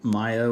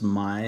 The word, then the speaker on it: Maya: I was saying Maya when it's my, so want to make sure that you know the proper pronunciation of the name.